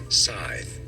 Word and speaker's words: Scythe: Scythe.